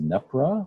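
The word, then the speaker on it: NEPRWA: Our handle is NEPRA, which is our terrible non-pronounceable acronym, which is NEP, as in Peter, RWA.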